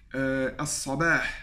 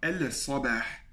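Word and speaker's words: الصباح: As-sabah, le matin. As-sabah, et je ne dis pas el-sabah.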